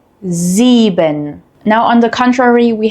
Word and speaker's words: sieben: We have a voiced S sound, which is a soft buzzing sound. This sound uses your vocal cords, similar to the English Z in zoo.